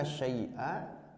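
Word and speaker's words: شيئا: Hubbu itu kan masdar, tapi dia berfungsi seperti fi'il. Jadi hubbuka syai'a maksudnya tuhibbu, ahbabta asyai'a, Anda mencintai sesuatu, maka bacanya syai'a.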